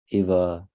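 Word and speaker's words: एव: no Eva yes it is small is the short one not the long one so it is either not vowels because there is no dash on top of a it is Eva Eva right either hmm all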